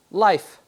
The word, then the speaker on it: life: The E is silent and will be notated by an X. So even though it has a line there, we're helping our students understand that the X means that that letter's silent. It also is a cue to help them understand that this is a silent E bopper.